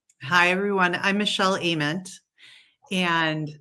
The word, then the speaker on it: Ament: I'm Michelle Ament. And so Ament, you can just think like amen with a T. And often it is mispronounced as Ament.